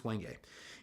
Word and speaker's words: wenge: come standard with the wenge board or wenge or I've heard people pronounce both ways I'm saying it's wenge and their bodies are